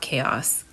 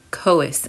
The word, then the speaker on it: Chaos: this is koe so I think I'm pronouncing this right it's not chaos coas and moon dust made